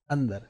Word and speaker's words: अंदर: अंदर। क्लियर? अब जो मैं उच्चारण कर रहा हूं, अ के बाद एक न की ध्वनि बोल रहा हूं।